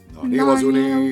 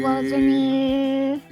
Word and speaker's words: Naniwazuni: Naniwazuri. Naniwazuni. So follow after me, alright? Okay, sorry. Just flow between syllables, don't pause, go Naniwazuni.